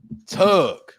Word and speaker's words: Tug: me uh tug tug rhymes with rug and it also rhymes with Doug um can I eat